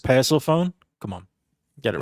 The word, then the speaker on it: Persephone: If you had Perseceny in there, I'd get cuz she's under that dual contract. If you had Uh actually JP, you pronounce it Persephone.